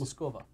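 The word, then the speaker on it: Москва: It's actually not pronounced Moscow. How's it pronounced? Moskova.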